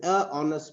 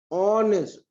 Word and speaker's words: honest: why because this word the H is silent we don't say a honest what do you say honest the o sound is